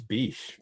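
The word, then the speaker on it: Bysshe: middle name bish um as far as i know it's beach dan do you like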